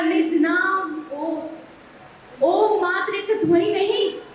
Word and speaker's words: ओम: ओम का उच्चारण 3 अक्षर अ, उ और म से मिलकर बना।